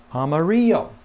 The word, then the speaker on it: amarillo: it is Amarillo and remember the two L's make the Y sound as if you go back to our uh alphabet and the sounds and so on two L's make the Y sound so um Amarillo okay that's yellow in